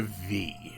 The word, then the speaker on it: VVVVVV: I'm Quill Quickcard, and welcome to V. Apparently that is the correct way to pronounce it based on sources that I can't remember and have not bothered looking back up.